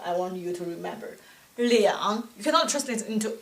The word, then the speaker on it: 两: When number 2 is followed by measure word, when number 2 is followed by measure word, the pronunciation for number 2 will be changed into 两.